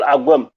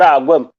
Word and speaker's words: Agwem: It's called Agwem, not Agwem. Well, so that is my name.